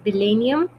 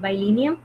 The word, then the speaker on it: Billennium: So our lecture for today is it's you can call it bilenium or you can call it bilenium. ठीक है, pronunciations का इतना वो नहीं होता. You can call it either bilenium and bilenium.